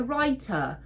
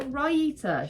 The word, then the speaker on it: raita: what the frickity Frack she calls it a writer raita I'm pretty sure ryita she calls it a